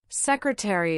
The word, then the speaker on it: secretary: Secretary is pronounced secretary with 4 syllables.